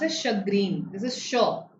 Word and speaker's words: chagrin: Yes, this is pronounced as chagrin. This is sh. It's pronounced with a sh sound, like champagne, right? So chagrin.